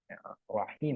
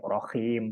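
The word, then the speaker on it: رحيم: ee Nah selanjutnya arahmanirahim rahim pakai Ha kan sering ya Enggak enggak sering cuma adalah yang bacanya rahim pakai ya itu artinya suara yang merdu gitu bukan maha penyayang Nah selanjutnya ini jugaat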